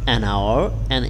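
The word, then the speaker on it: hour: vowel সাউন্ডের মত হয় অথবা কনসোনেন্ট লেটারটি যদি সাইলেন্ট থাকায় ভাওয়েলের মত উচ্চারিত হয় তবে এর পূর্বে এন বসে যেমন অ্যান অনেস্ট ম্যান আওয়ার ইয়ার দেখো এখানে সবগুলো কিন্তু এই কনসোনেন্ট বাট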